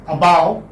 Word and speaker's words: above: This is above. Okay, what is it? Above. So this is schwa sound, which is coming in the beginning.